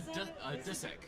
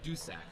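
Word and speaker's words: Dussack: told a dusek or a deusac, but some people are uncomfortable saying sack.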